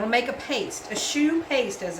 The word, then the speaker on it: choux: huh we're going to make a paste a shoe paste as it's called c h o ux I believe it's spelled you can better turn it down a